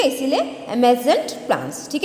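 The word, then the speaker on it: emergent: तो ये जो है साइलेंट रहता है आर, ठीक है। डी भी जो है वो डी में नहीं रहता है, ज करके उच्चारण होगा, ठीक है। इसीलिए एमेजेंट प्लांट्स, ठीक है।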